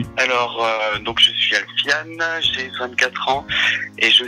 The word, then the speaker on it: Alfian: C'est la bonne prononciation d'ailleurs, Alfiane ? Oui, c'est Alfiane, tout à fait. Il y a beaucoup de gens qui se trompent et qui disent Alfian, prononciation à la française. On s'est pas trompé. Et non, c'est bon, c'est bien Alfiane.